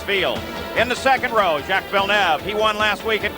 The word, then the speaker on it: Villeneuve: How does he pronounce his name? Jacques Villeneuve.